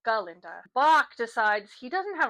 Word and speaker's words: Galinda: Dillamond's death, because the first time they met each other, he mispronounced her name, saying Glinda instead of Galinda.